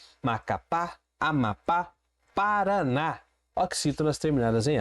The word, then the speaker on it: Amapá: Amapá. Oxítona, última sílaba tônica, terminada em A, leva acento.